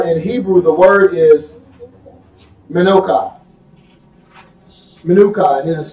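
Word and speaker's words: מנוחה: Because this still water in Hebrew, the word is Menucha. Menucha, and it is spelled Menuchah.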